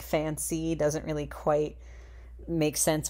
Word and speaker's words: Fan-Sea: Fancy is spelled in the name as you see on screen here, and I thought fantasy, it's kind of weird that they don't have, like, the T sound in there.